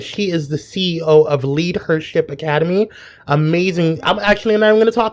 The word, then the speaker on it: LeadHERShip: and and about the lead her Academy and I just want to make sure that I'm pronouncing that right and everybody knows it's not leadership it's lead her H rship Academy is